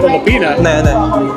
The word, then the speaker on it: Filipina: And if you're a woman, it's Filipina. Filipina, it's a woman, Filipina. But if you guy, Filipino. Okay.